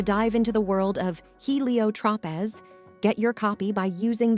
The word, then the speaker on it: Heliotropez: And if you're ready to dive into the world of Helio Tropez, get your copy by using the link below or go on Amazon. It's spelled HELIOTROPEZ.